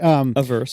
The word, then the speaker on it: averse: I am super scared of risk, and I always pronounce the word wrong. I always want to say adverse, and that's not right, is it? Anyway, averse. Thank you.